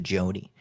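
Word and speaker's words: Joni: Do you think that also could be pronounced Janai or is that definitely a Joanie? Because the way that I pronounce that in my head is Joanie. J O N I. I pronounce it Joanie whenever I see see it.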